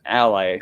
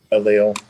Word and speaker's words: allele: They're on the same they're on the same ally, or I don't know how to pronounce that word. Allele.